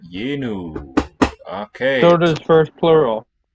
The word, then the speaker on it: yenu: Not yanu, but yenu.